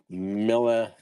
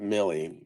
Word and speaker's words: Milla: Milla, not Millie, Milla Vanilli.